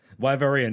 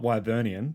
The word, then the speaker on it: Wyverian: Wyverian, not Wyvernian, just a heads up if you ever